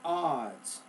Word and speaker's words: odds: or odds is at odds with the individual ual so uh the word odds you're saying it more o o but it's a odds also the word close